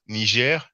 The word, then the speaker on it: Niger: The pronunciation is the French one of Niger, while the Anglophone media.